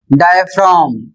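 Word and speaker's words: diaphragm: दूसरा उदाहरण है डी आई ए पी एच आर ए जी एम और इसका प्रोनंसिएशन होता है डायफ्राम और इसका अर्थ होता है शरीर का अंग।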